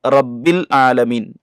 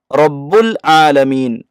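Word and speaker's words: رَبِّ الْعَالَمِينَ: ഓതുമ്പോൾ നാം ശ്രദ്ധിക്ക ക്കേണ്ടത് പല ആളുകളും തെറ്റിക്കാറുള്ളതാണ് റബ്ബിൽ ആലമീൻ റായിന്റെ ഉച്ചാരണം റ എന്ന അർത്ഥത്തിൽ ചില ആളുകൾ ഓതാറുണ്ട് റാ എന്ന അർത്ഥത്തിലാണ് നാം ഓതേണ്ടത് എന്ന ശബ്ദത്തിലാണ് നാം അത് ഓതേണ്ടത് അൽഹംദുലില്ലാഹി റബ്ബിൽ ആലമീൻ എന്നാണ്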